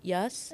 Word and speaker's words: IAAS: It's the pronunciation would be Yas Kirkwood.